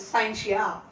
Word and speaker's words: scientia: derived from the latin word scientia many will pronounce it as scientist is not scientia it is scientia see the science is derived from the latin